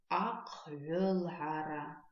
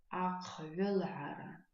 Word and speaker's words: аквелхара: Давайте обратим внимание на звуки, которые встречаются в этом слове, на выделенные звуки, и попробуем вспомнить, с помощью каких слов мы запоминаем произношение этих звуков. Итак, первый звук, который нам встречается, это звук «х». Звук «х» пишется как «х» твердый знак. «Х» твердый знак, да? Запоминаем мы произношение этого звука с помощью слова «шапка». «Кхылпа». «К», «кхылпа». Следующий звук – это звук «г». Звук «г» пишется как «г» палочка «в».